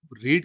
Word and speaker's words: read: रीड हम present के लिए बोलते हैं, और रेड हम पास्ट टेंस के लिए बोलते हैं, लेकिन दोनों की स्पेलिंग एक है।